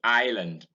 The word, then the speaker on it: island: then it occurs in island, in isle. Notice that the S in island and in isle is silent, and you have it